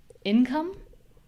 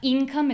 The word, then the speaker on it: income: for example, in words like um income. It's not income, it's income, just as an example.